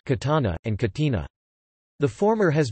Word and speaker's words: Catana: Around 263 BC, the city was variously known as Catina and Catana, Greek, Catane, ancient Greek, Catan epsilon, Latin, Catana, pronounced Catana, and Catina.